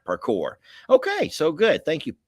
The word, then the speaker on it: parkour: right there par parkour I'm probably saying that wrong but uh if you've never seen that y'all it is some crazy stuff that these kids are doing and someone Patty says I'm saying it right parkour okay so good thank